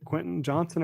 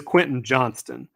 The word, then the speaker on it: Quentin Johnston: better it's Johnston right is it Quentin Johnson or Quentin Johnston not that it really matters but I gotta verify this I don't want to be saying the guy's name wrong constant yeah it is Quentin Johnston um and he's at